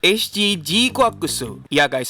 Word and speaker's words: GQuuuuuuX: J kakusu Yup guys udah di-confirm ya bacanya bukan gukuk bacanya bukan jicwaks bacanya juga bukan jincuks Gundam yang film prolognya muncul tanggal 17 Januari kemarin ini bacanya jikakusu seperti ini saya mau mengucapkan terima